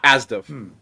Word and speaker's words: ASDF: So, yeah, Asdif. Why does this now... Whatever. People also refer to it as ASDF, if you know it under that name. Yes, it's spelled ASDF.